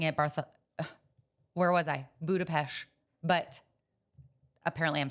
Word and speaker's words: Budapest: because I went to Budapest for work have never been everybody decided come back saying budapes because that's how you say it apparently but I kind of